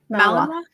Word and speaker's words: Malinois: Shepherds and Malinois and how do you say Malinois? Malinois. Yeah, some scary dogs that are meant to be aggressive and things like that.